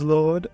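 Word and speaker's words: Lourdee: how y'all doing um my name is Lord uh that's spelled uh l o u r d e e yeah that's me uh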